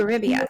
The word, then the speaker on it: Eurybia: Eurybia, so it's like Eurybia. Thank you. Eurybia, like your rib.